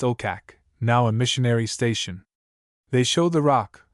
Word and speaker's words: Okak: The Eskimo assert that this occurred near oh hack often pronounced okak now a missionary station.